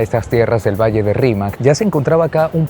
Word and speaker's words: Rímac: el quechua hablante costeño, la pronunciación de Rímac, la letra R, es como si dijeran con la letra L.